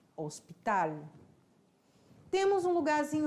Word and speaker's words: hospital: o hospital que escreve o que se escreve igualzinho em português mas se pronuncia diferente Hospital HU nós temos um